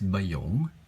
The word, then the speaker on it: Bayong: would like to acknowledge that the reason why bayong was created was because um lom's passion was